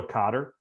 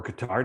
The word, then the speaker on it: Qatar: going to go to cotter or qatar depending on what day and and how you say it um what if they